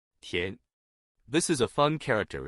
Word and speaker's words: 田: In today's video, we'll teach you the Chinese character for rice paddy or field pronunciation. Tian.